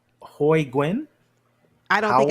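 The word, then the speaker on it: Nguyen: I'm gonna call you no it's gwy that's gwy that's not nguan it's gwy I've met too many people who pronounce their name spell it exactly the same and they're really the 99% that I've met pronounce it GW I had a former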